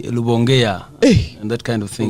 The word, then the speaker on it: Rubongoya: Rubongoya is the name, except that many people here like to call me Rubongoya, all sorts the of... R is moved to an L.